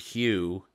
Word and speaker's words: HU: And then you begin to chant the word hue. And you pronounce the H and then U.